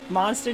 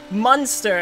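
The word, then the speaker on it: Muenster: Monster tastes like mozzarella? No. Munster. I think it's spelled M-U-E-N-S-T-E-R.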